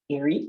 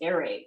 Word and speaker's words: Ere: ado please welcome mr erie santos welcome i'm sorry i said your name wrong in the intro but it's airaid that's right right yeah